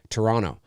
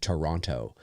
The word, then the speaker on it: Toronto: You always know a Canadian because they'll say Toronto. Americans tend to pronounce the other T, Toronto.